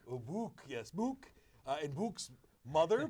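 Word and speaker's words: Bouc: I pronounce it Book. Oh, Book, yes, Book.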